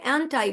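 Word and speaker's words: aren't I: আপনারা যখন বলবেন তখন অ্যান্টাই, এম নট আই, অ্যান্টাই বলবেন। দ্য উচ্চারণ ইজ অ্যান্টাই, অ্যান্টাই, অ্যান্টাই।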